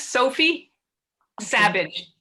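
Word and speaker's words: Sophie Sabbage: her name again jenny yeah her name is sophie savage s-a-b-b-a-g-e she's she's a brit it just so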